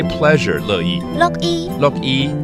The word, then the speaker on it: 樂意: 乐意，OK，听起来有点像下雨哈。乐意。那是乐意。对。 Sounds like raining, but it's actually a pleasure.